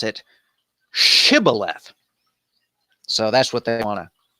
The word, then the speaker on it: Shibboleth: grain Cybil F and there are different ones that pronounce it Shibboleth and in Gilead in in Jephthah's part of the country it pronounce it Shibboleth so that's what they